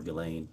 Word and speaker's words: Ghislaine: As best as we know, it's been publicly reported that in 2024, Ghislaine Maxwell, or Ghislaine, I think is how it's pronounced, arranged and wired $1